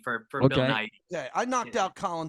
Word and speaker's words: Nighy: Yeah, I think it's Bill Nighy. Some people say Bill Nye, but that's like Bill Nye the Science Guy. So I always like to add the E for Bill Nighy.